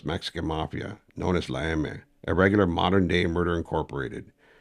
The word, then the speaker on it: Eme: Mafia, known as La Eme, a regular modern-day Murder Incorporated. And he was proud of it. Eme, pronounced "eh meh", is the Spanish phonetic pronunciation of the letter M for Mafia.